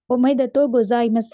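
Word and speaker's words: おめでとうございます: ஆனால் நீங்க அதை ப்ரொனவுன்ஸ் பண்ற நேரம் இஸ் அப்படின்னு ப்ரொனவுன்ஸ் பண்ண வேணும். ஆகவே ஒமைதத்தோ கொசாய்மஸ் அப்படின்னு சொல்லக்கூடியது வந்து கங்க்ராச்சுலேஷன் வாழ்த்துக்கள் அப்படின்னு சொல்றதுக்காக பயன்படுத்தப்படும்.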